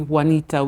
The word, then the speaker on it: Joanita: the film industry they call me Wanita which is the Spanish original version of my name joanita so really joanita came